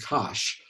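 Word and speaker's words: cosh: n h and um americans say that as tange something like that okay so it's the family of functions like cinch and kosh for the hyperbolic sine the hyperbolic cosine so uh we then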